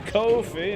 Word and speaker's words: Ko-fi: But you can donate to my Ko-fi. Buy me a Ko-fi, I mean a coffee. You have to say it like that, because that's how it's spelled. Shit.